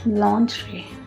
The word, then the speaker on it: lingerie: The next word which is commonly mispronounced is this. Can you try this word? Yes. No? It's lingerie.